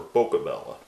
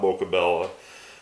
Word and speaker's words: Boccabella: so John Buck Obama for Boca Bella probably is how that's pronounced Boca Bella is from